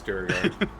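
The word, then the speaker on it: Duergar: differently all the time, so I it's all pronounce fantasy. everything incorrectly. No, you're right. It's Durgar.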